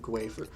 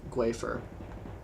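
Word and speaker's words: gaofar: Like wafer, but gwafer. Well, it's spelled G-A-O-F-A-R, gwafer.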